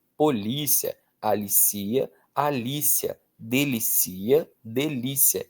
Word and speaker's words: polícia: E aí o acento determina a pronúncia. Ó, gerencia. Gercia. Policia, polícia, alicia, alícia, delicia, delícia.